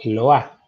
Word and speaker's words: Lois: Lois se escribe, se pronuncia Loa.